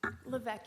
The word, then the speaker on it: Levesque: Did I pronounce that correctly? Levesque, Your Honor.